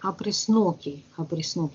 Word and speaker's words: опресноки: Опресноков, ударение, правильно? Опресноки, праздник опресноков.